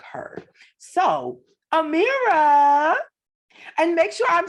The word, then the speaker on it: Amira: lane for women that look like her so amira and make sure i'm saying it right you're